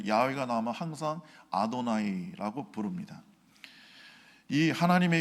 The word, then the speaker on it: 야훼: 근데 이것이 좀 더 히브리 오음에 가깝게 발음하려면 야외라고 해야 됩니다. 야외.